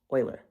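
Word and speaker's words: Euler: on these and again that's pronounced Oiler and so two of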